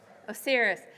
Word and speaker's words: Osiris: the god I have completely blanked on the pronunciation. It's o s i r i s. Oh, serious.